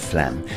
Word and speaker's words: phlegm: Let's take a closer look at the pronunciation of phlegm, and as you can see on screen, the PH is pronounced as an F. And we have a silent G, so this word is quite deceptive.